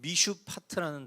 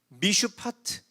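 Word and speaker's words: מִשְׁפָּט: 선한 일이라는 히브리어 단어는 미슈파트라는 단어예요. 근데 이어 나오는 살육이라는 단어는 미스파크라는 단어예요. 미슈파트, 미스파크, 비슷한 발음으로 대조를 이루고 있는 거예요.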